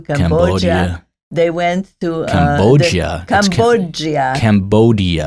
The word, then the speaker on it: Cambodia: Cambodia. It's a hard D.